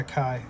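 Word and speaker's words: Caye: This band is It's a guy named I don't know how to pronounce it. Kai. C A Y E. The crowd. Kai. Oh, yeah. Yeah. Kai. K A I is how it's pronounced.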